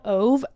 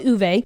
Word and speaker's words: Ove: is a man called o actually I think it's not pronounced that I think it's pronounced someone left a comment on my video U yeah a man called uve that's the Swedish pronunciation I hope I'm saying